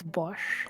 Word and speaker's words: Bosch: It's It's Bosch. It's Bosch. Like is it's Bosch fight. It's the same as the power tool company. Bosch, right?